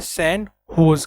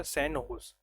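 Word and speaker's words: San José: क्योंकि स्पेनिश language में जो जे होता है वो एच से प्रोनाउंसिएशन करते हैं, एच से। स्पेनिश लैंग्वेज में जे होता है वो एच को प्रोनाउंसिएशन करते हैं, तो इसका सैन होज कहते हैं राजधानी।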